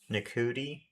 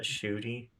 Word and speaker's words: Ncuti: Ncuti Gatwa? Um, Yeah. I keep pronouncing it No. uh Shooty.